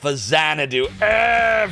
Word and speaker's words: Faxanadu: Uh you love Fazanadoo. You're one of those. Yeah, I know that's the proper pronunciation, but I call it fax sananadoo cuz that's what I called it when I was a kid.